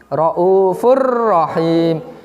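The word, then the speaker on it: رَءُوفٌ رَحِيمٌ: Jadi bacanya harus jelas, tidak boleh dengung ya, nggak boleh apa di sini Raufur Rahim, nggak boleh ya. Harus fa-nya itu harus masuk ke ro. Raufur Rahim.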